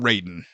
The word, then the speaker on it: Raiden: His name is Raiden, R-A-I-D-E-N, Raiden, not Ray, like a Ray got...